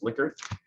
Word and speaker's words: Likert: The individual's last name is pronounced Likert, and so it is known as a Likert scale.